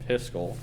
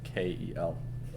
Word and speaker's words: Piskel: So instead, we're gonna use it's called Piskel.